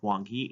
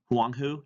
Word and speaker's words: Huang He: the Huang He is actually not pronounced as wonky it's pronounced as along who Huang who doesn't sound as great as Wang he it's